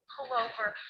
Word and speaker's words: pullover: And we stress in the first syllable, pull. Pullover. Or a pullover.